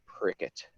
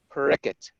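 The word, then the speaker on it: Parikshit: going to call him prickett it's pronounced different ways there's a bengali way in the hindi way we're going the bengali is a little easier on the western ear yeah prickett how periquette received the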